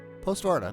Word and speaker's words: Postvarta: Postvarta? Postvarta. No, I was saying it right. A little surprised I was saying it right, but I am saying it right.